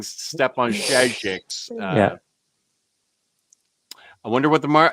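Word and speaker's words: Šejić: Is that Stefan Sejic? Is it? Good question. I think the J might be silent.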